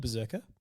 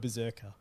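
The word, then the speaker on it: BRZRKR: And that's what they're running with because it's called Berserker. It's spelt BZZKR.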